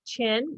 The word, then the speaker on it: Qin: to pronounce this name it's chin you guys can say emperor chin emperor chin improved trade